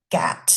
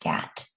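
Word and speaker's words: GATT: We had the international general agreement on tariffs and trade which is GAT. I think it's pronounced GAT.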